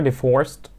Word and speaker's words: divorced: They are divorced. Divorced. Okay. Divorced. Okay. تا. Alright. Pronounce T في الآخر. عشان divorced. انتهى ب unvoiced sound. So it's pronounced T.